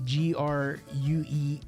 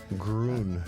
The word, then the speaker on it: Gruene: Gruene, by the way, is spelled like the city, Gruene. You got it. There we go. Gruene, if you ask a local there.